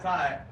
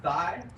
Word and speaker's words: Thai: I got pad thai, and they pronounce it pad thigh.